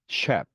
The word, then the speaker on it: chef: 반면에 chef, machine 같은 경우에는 네, 쉬 발음이 나고요.